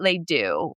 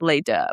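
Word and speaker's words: Les Deux: They called it Leoo, which is just the wrong way of pronouncing it. It's Leah, but whatever.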